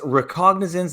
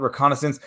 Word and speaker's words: recognizance: gonna bring this up it's recognizance not reconnaissance I think Curtis saying